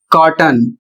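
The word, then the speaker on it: cotton: अगला शब्द है सी O double T ओ एन और इसका उच्चारण कॉटन और इसकी हिंदी होती है कपास या फिर रुई।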